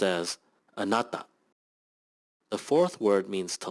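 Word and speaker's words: あなた: kju the third word means you and is pronounced as anata the fourth word means to like and is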